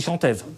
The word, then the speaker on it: chantève: Mais par contre, ici, en marchois, c'est il chantève. Ou chantève, il chantève, te chanteva. Où à chaque fois on a l'accent qui tombe sur la dernière syllabe et qui est très peu prononcé, comme en français.